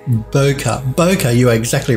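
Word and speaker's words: bokeh: footage now Johan says I think it's pronounced Boca Boca you are exactly right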